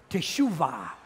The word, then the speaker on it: Teshuvah: Now in Hebrew, the language of Jesus, the word repentance is pronounced Teshuvah.